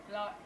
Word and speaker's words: Ilagan: Ilagan, is that how you say it? Yeah. Ilagan, yeah.